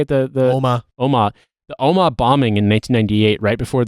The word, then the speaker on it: Omagh: Omagh.